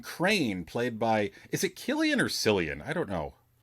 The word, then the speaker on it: Cillian: crane yeah it is it is killian it's a hard c it's a yeah like a hard k i just looked it